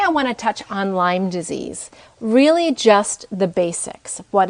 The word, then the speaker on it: Lyme disease: it's spelled L-Y-M-E, and it's not Lyme's disease, it's Lyme disease.